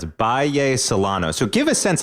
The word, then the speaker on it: Bahía Solano: to talk about and you said it's pronounce Bay salano so give a sense